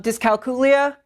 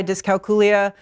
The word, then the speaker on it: dyscalculia: Um dyscalculia. Apparently I've been saying that wrong for the last 20 years so I will be learning new vocabulary myself.